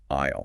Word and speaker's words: aisle: The letter S is a silent letter. We write the S, but our mouths do not say it. Aisle.